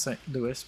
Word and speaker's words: St. Louis: By the way, St. Louis is pronounced St. Louis, but Louisville is Louisville.